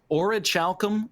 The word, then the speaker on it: orichalcum: You just if you want to remember how it rhymes, just say oral calcum, and Yep.